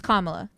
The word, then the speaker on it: Kamala: come on someone say Remember by saying comma like comma the word La so it's Kamala yeah okay so like